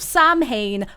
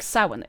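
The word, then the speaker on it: Samhain: is this guy called Sam Wayne because of Sam Hayne because of Sin? And I may never get an answer. See, that's the thing. It doesn't sound like sin.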